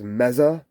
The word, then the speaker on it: Mesa: the diesel and the mesa boogie whereas james producer james says mezza that's kind of how they pronounce it over here in the uk and uh looks like